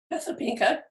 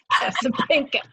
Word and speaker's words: Casapinka: Casablanca. Oh, see, I always say it wrong. Casapinka.